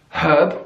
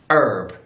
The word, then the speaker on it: herb: English we say herb herb we have the H we give it the pronunciation herb in American English herb herb they just take that H and they just throw it away herb either way it's